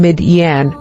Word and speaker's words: Midian: Midian origin Hebrew Midian meaning Strife or contention pronunciation midan Bible verse Genesis 252 ESB she bore him